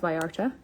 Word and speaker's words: Vallarta: a powder bronzer i'm going to use nars vallarta it's actually spelt velata but pronounced by arta with another brush this is the angled brush